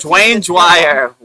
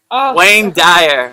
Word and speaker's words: Wayne Dyer: heard Dwayne Dwire. Wayne Dyer.